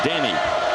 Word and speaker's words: Denis Clemente: nicknaming him denny but he's from puerto rico and that's how you say his name danny and that's the way